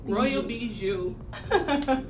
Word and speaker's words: Royal Bijoux: come up with your name how do you pronounce it again bijou royal bijou okay how did you come up with your